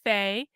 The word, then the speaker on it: Fae: fairy gender now okay Faye pronounced as Faye a less common gender